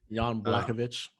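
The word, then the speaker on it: Jan Błachowicz: rain hopefully uh john black sugar i can't pronounce his name uh he's supposed to be the foolish guy yon blackovich yeah i knew he was gonna say it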